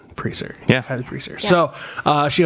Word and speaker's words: Presar: Presar.